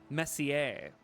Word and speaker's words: Messier: Joyce Messier. Messier, excuse me. Got to get the French pronunciation.